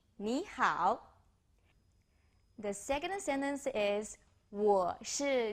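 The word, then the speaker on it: 你好: as hello I will introduce you an interesting way to remember the pronunciation me as me how as how so hello how is your knee knee how the second sentence is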